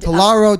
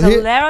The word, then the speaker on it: Talero: And Talero Tequila. Talero. Talero. Am I pronouncing it wrong?